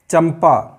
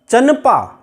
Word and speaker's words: चंपा: पंचम वर्ण मा है, यहाँ पर अनुस्वार की ध्वनि माँ ही निकलेगी। चंपा, चंपक, अभी उदाहरण बताया था दंभ, यही निकलेगी। अब अगर हम यहाँ चंपा की जगह चनपा अगर बोलना चाहें, आप बोलकर देखिए, तो हम इतना आसानी से सुखपूर्वक नहीं बोल सकते और हमारे मुंह से